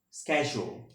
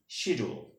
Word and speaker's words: schedule: next word is yok in american english the correct pronunciation of this word is yok okay and in british english the correct pronunciation of this word is yok but you should not pronounce of this word is yolk which is not a correct pronunciation okay that's why you